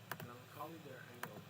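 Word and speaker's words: Melancholie der Engel: Melancholy der Engel, which I took German class, yeah, that's how it's pronounced, which translates to the Melancholy of Angels,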